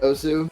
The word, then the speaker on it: osu!: It's Os, but everyone and their mother's uncle calls it Osu. So either or is definitely acceptable. I mean, yeah. So basically, Osu is just Osu.